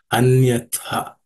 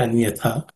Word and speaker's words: अन्यथा: In terms of pronunciation, the last letter tha in the first word, it has to be aspirated, anyatha. Okay, anyatha. The rest of the letters are not aspirated, should be easy.